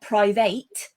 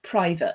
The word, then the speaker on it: private: the list of them one of the most common that people um often pronounce incorrectly is private okay it's not private it's private and therefore privately as